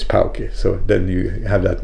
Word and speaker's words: Puke: called uh poke poke if you say that in English would be puke because it's spelled puke but his his name is pokey so then you have that name right.